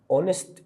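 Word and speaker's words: honest: تريدر اسم مفرد يعد اونست الاتش سايلنت يبقى تشتغل على دي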